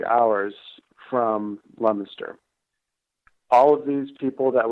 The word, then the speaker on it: Leominster: Leominster.